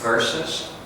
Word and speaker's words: versus: Not W. I'm hearing W. Ver. Ver. Yeah.